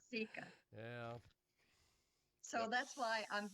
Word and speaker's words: Seeka: Plus, they were pronouncing my first name incorrectly as Seika, and it's really Seeka.